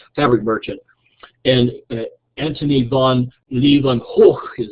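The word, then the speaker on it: Antony van Leeuwenhoek: And Antony von Leeuwenhoek is how it's pronounced, who lived from 1632 to 1723, needed a methodology to decide the quality of the linens he was buying.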